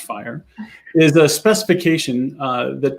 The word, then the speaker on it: FHIR: fast healthcare interoperability resources fhir pronounced fire is a specification uh